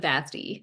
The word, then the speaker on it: Vasti: be here with Vasti. Am I saying that right? So my family pronounces it Vasti, like Yes. rhymes with nasty, which regrettably, alas, is the only word in English that rhymes with Vasti.